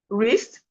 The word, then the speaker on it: wrist: So we have right, wrist, wrong, wreck, wrap, wrestle, ran, wrinkle, wrongful, wretch, wretch, right, wrist, wrist, wrong, wreck, wrap, wrestle, ran, wrinkle, wrongful, wretched.